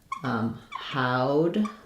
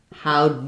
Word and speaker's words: how'd: So that sounds like how'd, ow, like it rhymes with loud. So how'd you know?